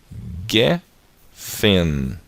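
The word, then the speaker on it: גֶּפֶן: Porque não tem o dagueche, então ela fica com som de F. E embaixo dela nós temos 3 pontinhos, o som do E, tá? A segol. E depois nós temos a letra Nun, tá? Que tem um som do N, é a letra Nun sofit, porque ela está aparecendo no final de uma palavra, ok? Então, lendo aqui, ó, consoante, vogal e consoante. Então, fica gefen, ok?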